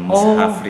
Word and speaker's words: Mushafry: Sebenarnya ejaannya MUSHAFRY. MUSHA ya? Iya, betul, Mushafri.